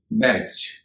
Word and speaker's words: batch: Crack, बैच, BATCH, इसका उच्चारण बैच क्यों होगा आप समझ गए होंगे, क्योंकि ए के पहले बी है, एक कॉन्सोनेंट है, और ए के बाद TCH, यानी तीन कॉन्सोनेंट है।